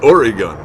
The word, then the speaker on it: Oregon: believe so ah melissa speaking as a native oregon it's pronounced oregon orega okay another word i